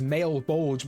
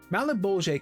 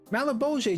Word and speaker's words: Malebolge: The first door is Malebolge, which I used to pronounce as male bulge before looking up the pronunciation, so there's that.